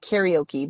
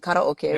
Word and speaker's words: karaoke: you might pronounce it karaoke but we pronounce it karoke which is a Japanese pronunciation uh just singing and